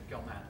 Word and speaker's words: Gell-Mann: Gell-Mann, how do you pronounce it? That's right, Gell-Mann.